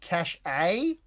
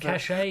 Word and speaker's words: cachet: Miranda, who I think might be a bit bogan, she reckons it's pronounced cash A. She thinks she's going for cash A, but Cachet is, yeah, yeah, it's that's yeah, that's what it's.